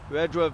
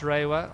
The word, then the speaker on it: Rewa: Bethan Rajwa very happy with that catch. Rewa, Wayne. It's Bethan Ray. It's Sorry, pronounced Rewa. I made the mistake on the first day, but it's that's